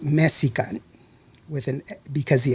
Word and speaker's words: Mexica: And so instead of calling it Mexica, they said Mexico. And so the spelling, the correct pronunciation of the spelling is Mexica, but not Mexico.